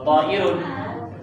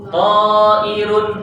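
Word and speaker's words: طائر: Ta'irun ta fathah, alif tanpa harokat, hamzah kasrah, ra dhammatain. Saghirun shad fathah, ghain kasrah, ya sukun ra dhammatain.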